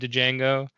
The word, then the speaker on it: Django: floor saying curse you Django I think the actual line is something different but Jamie Fox rep playing the D is silent hillbilly such a good